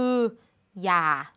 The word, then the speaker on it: อย่า: แน่ นอน เพราะ อะไร เพราะ คำ นี้ เขียน ว่า อย่า ก็ จริง แต่ ใน การ อ่าน เรา อ่าน ว่า อย่า อ่าน เหมือน มี ห หีบ นำ อยู่ ก็ เหมือน กัน